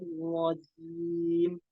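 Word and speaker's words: الرجيم: Nah, itu juga ini berharokat kasroh, jadi disempurnakan kasrohnya jangan sampai menjadi e.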